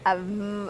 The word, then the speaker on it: of: Now, this word we say the last of almost a V sound of.